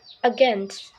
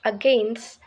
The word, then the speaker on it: against: Against. Lastly, In this preposition, the stress is on the second syllable gains, making it against, not against.